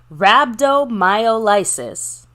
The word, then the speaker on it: Rhabdomyolysis: medical issue so uh like Mr mcf said Rhabdomyolysis that's how you pronounce it uh long story short in layman's